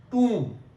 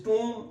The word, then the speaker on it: tomb: And O can also give us the same sound, oo, who, move, remove, approve, tomb. B is underlined, it means that we are not here pronouncing B sound. It is tomb, it is womb.